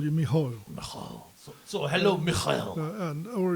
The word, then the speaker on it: Mikael: Mikael, I mean the English pronounce probably Michael. I don't know how the Swedish pronounce it. I think it's Mikael. Hi, Mikael. Yeah, I'd say it would be Mikael.